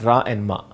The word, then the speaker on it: Rama: that in carnatic music if the song is about rama or thing it's not rama it's ra and ma okay okay and it's